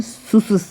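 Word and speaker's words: Tschüss: दो ह्यूमलेट और एस इसको हम सुस पढ़ते हैं स्सिस स्विसिस ठीक है टी साइलेंस रहता है इसमें स्िसिस ओके और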